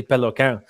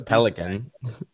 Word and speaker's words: Peloquin: It's technically Peloquin, but I don't want to For a sound week, I thought it was Pelican.